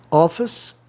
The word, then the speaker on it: office: Office e official. Office, ICE no fim, é um grupo sufixal átono, office.